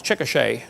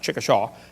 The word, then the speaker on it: Chickasha: 2005 textbook, and I pronounced it wrong, it's Chickasha, not Chickasha, Chickasha, Oklahoma.